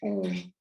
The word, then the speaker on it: Om: Om is pronounced as A-U-M, Om.